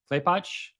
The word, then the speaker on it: Klepatch: How do you say that? Klepatch? Yeah.